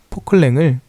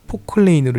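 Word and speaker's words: Poclain: 하지만 그 일반인들에게 익숙한 이름인 포크레인은 프랑스계 회사 포클랭을 프랑스 그 발음이 아니고 영어식 발음인 그 포클레인으로 읽은 다시 그걸 우리나라식으로 읽은 이름이에요.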